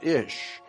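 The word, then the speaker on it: אִישׁ: ISA comes from the Hebrew word for man ish here's another uh reference work that said interesting the words for man and woman in Hebrew is identical man in Hebrew is pronounced ish and looks like this but the Bible does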